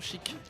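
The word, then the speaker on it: Sheik: Il est trop vif son chic. Le chic bouge vite. Son chic. Chic. Avec un K prononcé. Attention.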